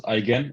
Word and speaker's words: Eigen: out is my name you pronounce eigen it's like I can it's the G like in the word Goose but that is very